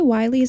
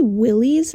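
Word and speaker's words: Willy's: from my editing self I do say Wy it's actually Willies and I don't know why I thought it was Wy I have no idea but I say it wrong a lot right now so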